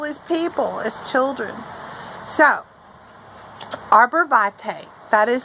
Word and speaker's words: arborvitae: So, arborvate, that is spelled A R B O R B I T A E.